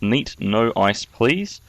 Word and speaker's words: neatnoiceplz: game uh against my beef strong and it's pronounced neat no ice please um my beef strong sent this into me